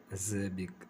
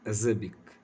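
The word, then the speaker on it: acerbic: तो इसका जो प्रोनाउंसिएशन है इसका है एज़ेबिक, एज़ेबिक, एज़र्बिक, यानी इसका मतलब होता है बिटर, हार्स या फिर सावर, कड़वाहट होना।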